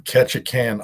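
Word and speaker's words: Ketchikan: Uh, I'm in Ketchacan, Alaska on a boat. Can you spell that?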